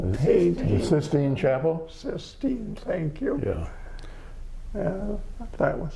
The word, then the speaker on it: Sistine: And the how do you pronounce the chapel with all the paintings? The Sistine Chapel? Sistine, thank you.